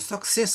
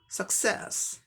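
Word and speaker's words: success: तो क्या हो जाएगा उच्चारण, सक्सेस, सक्सेस, सक्सेस। हम लोग सक्सेस कहते हैं, इसका उच्चारण क्या हुआ, सही उच्चारण सक्सेस, सक्सेस, ए साउंड है, सक्सेस।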